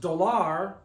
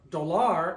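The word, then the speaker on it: dólar: because it's not pronounced doar doar it's doar you're stressing the O doar doar it breaks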